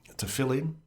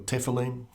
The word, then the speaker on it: tefillin: of the tefillin, or tefillin, the straps on the arm. It's interesting, looking up pronunciations. I've read tefillin or tefillin, or I've heard both of them, and both seem to be in widespread use.